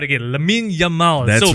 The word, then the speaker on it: Lamine Yamal: and the most famous of them all is Lamine Yamal. Oh yeah, the one that you pronounced wrongly lah. Yes, I know last week, for those of you who watched last week, I apologize. I mentioned Lamine Yassal.